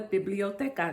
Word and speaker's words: biblioteca: It's called the biblioteca. That's how you say it in Spanish.